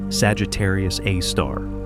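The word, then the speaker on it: Sagittarius A*: Astronomers called it Sagittarius A, pronounced Sagittarius A star.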